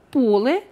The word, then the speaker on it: поле: Ось, наприклад, поле в однині наголос падає на «о», а поля – множина. Наголос перемістився на закінчення.